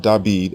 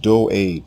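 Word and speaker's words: דוד: The king's name is not Davidid as it appears in the Greek New Testament. It is not David. It is not dawed. His name is pronounced doid or do for short.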